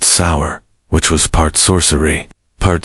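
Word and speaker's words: seiðr: Someissit relied on magic, specifically a mysterious practice called cider, pronounced sour, which was part sorcery, part spiritual therapy, and part my ex want, return my runes.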